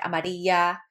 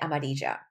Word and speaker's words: amarilla: Now, in Colombia, two L's make the J sound, J. A lot of times Puerto Ricans will say like amarilla, but we pronounce it amarilla.